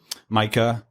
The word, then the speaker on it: Mika: said that I thought of artists like um Micah or ma however people want to pronounce it like who content matches often times